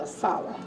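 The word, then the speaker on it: ASALH: Kaji Witson started Asala, we call it Asala, although it's spelled A S A L H.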